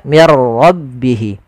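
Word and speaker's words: من ربه: ro dan diganti menjadi R maka menjadi mirro maka menjadi diganti dengan ro maka mirro Kemudian yang kedua tidak boleh ditahan tidak boleh mirro tapi langsung saja Mir hati-hati di dalam laf ro itu punya sifat namanya sifat takrir tapi takrirnya hanya satu saja tidak boleh berulang Mir enggak tapi langsung saja mirbihi kemudian berfal rbihi ada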